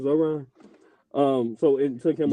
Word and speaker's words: Zohran: What's how you pronounce his name? Zoran. Zoran.